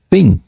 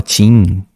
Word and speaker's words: thing: Porque a expressão grifada aqui, thing, esse TH é muito difícil de pronunciar para nós brasileiros, né? É muito difícil. Então tem gente que fala tim, tá, tudo bem, paciência. Tem gente que fala fim, thing, é muito difícil.